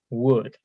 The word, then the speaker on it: would: So if, and then the past tense of the verb, and then would, right? So don't forget the pronunciation of would is the same as wood, like a tree, right?